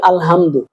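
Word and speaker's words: الحمد: এই যে এই যে এটা আমাদের বড় হালকের মাঝখান থেকে উচ্চারণ হয়। এইটা আমরা বলি আলহামদু।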